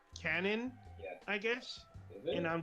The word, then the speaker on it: QAnon: I thought it's pronounced QAnon, but apparently it's pronounced canon.